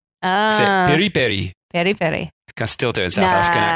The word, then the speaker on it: piri piri: South African Spelling Bee Perry Perry Perry I still didn't see wrong but still buddy Barry no but still that's where that pronunciation comes from so Perry Perry is a South African version so Nando's is Perry